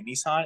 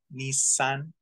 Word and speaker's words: Nissan: or Nissan like Nissan we say Nissan it's supposed to be like nice Nissan it's a long s